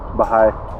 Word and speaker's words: Bahia: say Bahia Honda? Baha'i. Baha'i? Baha'i. No, I asked them. It's Baha'i. Baha'i. Okay. It's actually pronounced way differently even in Spanish, but...